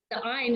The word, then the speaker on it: ayin: Interestingly, the ayin is also a silent letter. It's one of the guttural letters that actually takes its sound from the vowels underneath the letter.